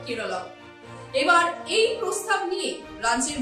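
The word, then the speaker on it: കേരളം: পাক থাকছে কেরলের সরকারি ভাষা মালয়েলাম এবং সেই ভাষায় রাজ্যের নাম উচ্চারণ হয় কেরলম এবার এই প্রস্তাব নিয়ে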